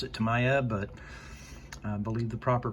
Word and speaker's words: Tamiya: I pronounce it Tamiya, but I believe the proper pronunciation based on Fred's recent video is Tamiya.